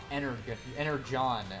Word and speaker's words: Energon: It's pronounced Energon. It's a thing from Transformers.